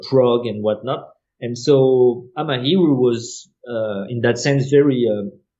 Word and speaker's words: Amahiru: I try to pronounce that. I keep saying it wrong. Is it Amahiru? Amahiru, yeah.